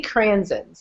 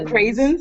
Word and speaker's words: Craisins: makes fun of me i see cransins i know that's not how you say it cransins you guys know you know what i'm talking about right crazy the craisins i said crazy yeah